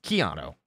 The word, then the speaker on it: Chiato: Chiato. It's Chiato. Chiato like a macchiato.